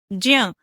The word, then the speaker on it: ज्ञ: तो बच्चों यहाँ ध्यान दें कि सामान्य हिंदी में हम इसे ज्ञ बोलते हैं, लेकिन प्राचीन संस्कृत में इसका उच्चारण आधा ज और न्य के मेल से होता है, जो ज जैसा सुनाई देगा। तो इसका उच्चारण कैसे करें? जब हम ज बोलने को तैयार हो न्य बोल दें तो क्या बनेगा? ज्य। लेकिन जब इसका उच्चारण करेंगे तो ज जैसी ध्वनि सुनाई देगी।